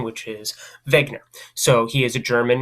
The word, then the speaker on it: Wegener: that is Alfred Wegener I know it's pronounced with the V but it's spelled with the W if you say Wagner I won't correct you